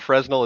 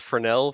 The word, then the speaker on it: Fresnel: the fun part so it's not fresno it's fresnel for those of us theater